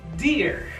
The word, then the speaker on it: dear: Esta palabra se pronuncia dear. Cuando tenemos dos E, se va a pronunciar como una I. Entonces esas dos E se pronuncian como I. Dear.